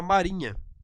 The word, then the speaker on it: marinha: Na pronúncia da palavra, o H é pronunciado? Você consegue observar isso, tal qual a palavra rainha? Não, o que você observa é uma nasalização.